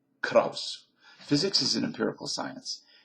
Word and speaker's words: Krauss: This is Krauss speaking again or Krauss, however you pronounces that Kaus Kaus would be the German pronunciation or Krauss.